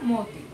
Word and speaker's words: মতি: উচ্চারিত ছবি তাই না আবার দেখো মতি হ্যাঁ ময়ের সাথে অ আছে আদিতে অ উচ্চারিত হয়েছে কিন্তু এখানে আমরা লেখার সময় মতি তাই না লিখলাম কিন্তু উচ্চারণের সময় কি হয়ে গেল মতি হ্যাঁ এখানে এটাই সঠিক উচ্চারণ অর্থাৎ কি আমাদের যে